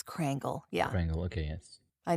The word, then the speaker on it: Krangle: how do you say your last name it's crangle yeah crangle okay yes I know a lot of people will like automatically spell it as crangle but no nice so